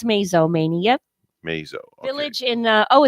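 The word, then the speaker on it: Mazomanie: Mazo Maney, Wisconsin. Oh yeah, Mazo Maney. Mazo Maney. Okay. Did I say Mazel like yeah, you nasal? said Mazel, like Yep. nasal. It's Mazo Maney.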